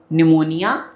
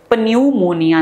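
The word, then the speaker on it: pneumonia: पी से आपका निमोनिया। पी से पनमोनिया नहीं है। पी साइलेंट है। तो निमोनिया आएगा।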